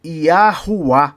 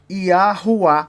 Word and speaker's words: Yahweh: acordo com os árabes esse w deve ser pronunciado como u quando se referir ao nome do Deus de Israel e o nome do Deus de Israel seria iuá aí você vai falar